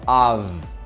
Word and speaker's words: of: Número 4 é a palavra of. Of. E essa palavra pega as pessoas na pronúncia, porque não é off. Escreve OF, mas tem som de V.